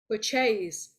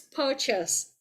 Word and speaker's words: purchase: who studied business, and the whole group pronounced this word purchase. No, it is purchase.